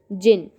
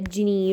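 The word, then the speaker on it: Djinn: This is जिन। जिन क्या होता है, हमें सब पता है, जिनी, राइट। उसे मतलब अलग अलग तरीके से प्रोनाउंस करते हैं, जैसे जिन कहते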